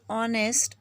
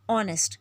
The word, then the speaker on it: honest: Brit in this word honest this H is silent after this H we